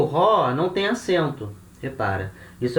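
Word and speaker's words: ὁ: O artigo é ró. Ró. Vogal ômicron. Espírito forte. Então, vogal aspirada. Ró.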